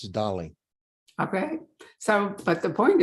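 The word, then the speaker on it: Dalí: years old when you're eight years old it's Dolly okay so but the point is that maybe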